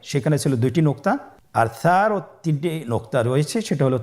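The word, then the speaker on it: ث: ছিল 2টি নোক্তা, আর সারও 3টি নোক্তা রয়েছে, সেটা হলো তার উপরে। তাহলে 3 নোক্তাওয়ালা হরফটিকে কি বলে? সা। আবার বলুন সা। সা হরফটি বারিক মানে পাতলা করে উচ্চারণ করতে হবে।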